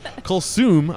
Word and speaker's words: Kulsoom: Kulsoom, I'm saying it correctly, right?